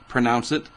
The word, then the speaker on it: Haima: I think that's how you pronounce it. Haima.